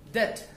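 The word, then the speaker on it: debt: For example डेट डी ई बी टी, इसमें हम B pronounce नहीं करेंगे.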